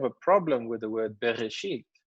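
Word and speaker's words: בראשית: problem with the word bereshit this alef is completely useless in there it's not necessary if you have the aleph in there or not it would be you pronounce it the same so there are people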